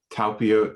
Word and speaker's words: Talpiot: And you talk about the relationship between Mary Magdalene, and you mentioned now correct me if I'm wrong how to pronounce this, the Talpiot Tomb? Talpiot Tomb.